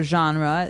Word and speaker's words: genre: should be pronounced differently we say genre genre or genre this kind of sounds French is it French I think it comes from French uh it's a g word so genre it's a soft soft sound MH and what's a